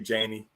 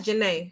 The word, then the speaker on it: Janae: don't agree with you Janie huh oh that's Janae that she pronounced her name is your name Janae